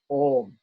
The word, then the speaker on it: Om: So Om is a slightly extended syllable.